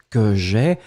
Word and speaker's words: j'ai: mettre au subjonctif présent que j'ai a I e on ne prononce pas le e il doit être écrit et vous mettez encore